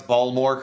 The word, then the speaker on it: Baltimore: 12 I just told my daughter how to pronounce balmore correctly this morning I only know that from